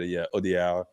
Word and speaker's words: Audiard: Here it's like it's just Audiard is probably good enough, but Audiard because it's Jacques. just you lose the last D in the pronunciation, but you got it.